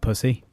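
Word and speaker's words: Psusy: But it's not spelt pussy, it's just pronounced pussy. Oh. So just to make spelt things... pussy. It's spelt... It's actually about infections, and it's called pussy. It's spelt P-S-U-S-Y.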